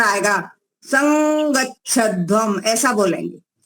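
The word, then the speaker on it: संगच्छध्वम्: तो इसलिए अब जो ये अनुस्वार है, इसका उच्चारण हमारा होगा क वर्ग का जो अंतिम वर्ण है ङ, क ख ग घ ङ उच्चारण आएगा। संगच्छध्वम ऐसा बोलेंगे। संगच्छध्वम संवद्धध्वम संवो मनांसि जानताम देवा भागम यथा पूर्वे समजानाना उपासते।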